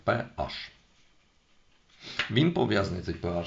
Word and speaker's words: pH: кількісно характеризують водними показником водневий показник PH вимовляється саме PH він пов'язаний цей pH